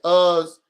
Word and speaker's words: Uz: two cities of us somebody says us rhymes with cuz all I guess I maybe I was pronouncing it wrong they're correcting me right I'm saying oo or us it's fine so we